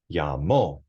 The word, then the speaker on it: llamó: Llamó. It has an accent mark because that's where the emphasis goes in the pronunciation.